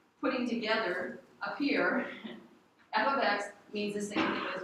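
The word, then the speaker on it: f(x): it's set equal to f of X so f of X that's how you say it f of X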